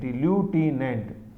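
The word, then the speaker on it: lieutenant: ये लेफ्टिनेंट की स्पेलिंग भी याद रखो, LIEU, LIEU, ल्यूटिनेंट, ऐसे LT बोलते हैं स्मॉल में।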